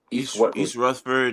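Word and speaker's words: Rutherford: Metife Stadium East, how the hell you pronounce that town? Except East Rouford. East East Ruford, New Jersey.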